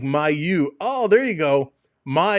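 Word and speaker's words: Mailloux: Malo is like my you.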